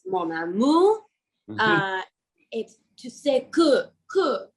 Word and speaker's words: Mon Amour: So, I got a French instructor and she came over and she was like it’s not: “Mon AmOr” it’s: “Mon AmOUr” and “tu sais que que que”.